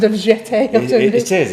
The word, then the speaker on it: jeté: Jesse says it's pronounced jeté. Jeté.